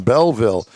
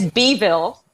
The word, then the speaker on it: Beeville: couple of weeks in Beeville. So, Shannon Well, actually it's it's Beeville.